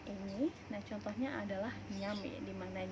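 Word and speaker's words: eñe: Nah itu enye, dibacanya enye.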